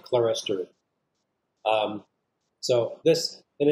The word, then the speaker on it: clerestory: term modern um terminology people often refer to this as clear story um i learned it as clerestory especially where it is applied to churches christian churches i will pronounce it clerestory so this and it's